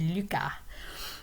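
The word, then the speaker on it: Lucas: consonants that we pronounce but s is generally silent so his name is luca okay is one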